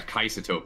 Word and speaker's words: Kaisatope: Yeah, Kaisatope. I'm glad you're saying it correctly, at least. Yeah, Kaisatope. That's how you pronounce it.